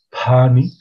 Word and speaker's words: pani: Cadereyta, en su pronunciación, ellos pronuncian una P aspirada, como por ejemplo, para referirse a la palabra caballo, dicen pani, o para referirse a